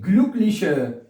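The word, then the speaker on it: Glück: ते ठीक है द जि ये है द गलक गलक गलक स्पेलिंग चक कर लेते भैया एल यू सी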